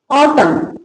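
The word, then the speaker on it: autumn: ए यू टी यू एम N. Word का last अक्षर एन और उसके पहले एम हो तो एन साइलेंट रहता है।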